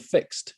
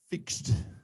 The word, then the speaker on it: FIXD: car have you heard of the thing called fixed fix well you told me yeah you told